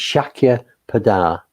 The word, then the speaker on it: Shakyapada: seen it right now it's Shakya pada so it's a keeper down as in tada Shiki Buddha it means